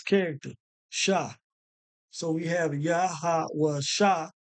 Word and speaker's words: Yahawashi: So that's the correct way of pronouncing this character, Sha. So we have Yahawashi, right?